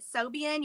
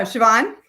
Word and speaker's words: Siobhan: Like if you have a question, like, so I'm not going to say her name right, but Sobian, you know who I'm talking about? Oh, Siobhan? Yeah. See? Yeah. Siobhan, yeah. Wrong. I got her name. I think it's an Irish name.